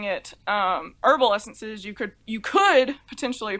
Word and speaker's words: Herbal Essences: So instead of pronouncing it herbal essences, you could potentially pronounce it hairball essences, which sounds really unappealing for a name of shampoo.